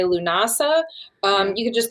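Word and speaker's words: Lughnasadh: English so you know it's not a tongue twister like luag nassad see you say that better than me it's like it's an awesome something yeah people say lunasa um you could just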